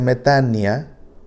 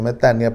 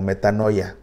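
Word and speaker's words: μετάνοια: El sustantivo es metania, que se pronuncia metania, aunque se escribe metanoia, ¿verdad? Pero se pronuncia metania porque Omicron con Y se pronuncia como I, metania. Pero tal vez has escuchado el término como metanoia.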